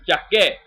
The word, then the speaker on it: Jacquet: It's not jacket as in what you wear, it's Jacquet, with the C and the K and the U.